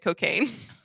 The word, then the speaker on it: Cokagne: a pretty good name the diet cocaine but it's spelled c-o-k-a-g-n-e like champagne uh so yeah it was